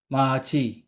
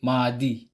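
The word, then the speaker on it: 맏이: d ay psim at kapag ang kasunod niya ay silent consonant with vowel I ang pagpronounce ni consonant d ay J halimbawa Mat plus e equ machi machi hindi madi mai maji same with consonant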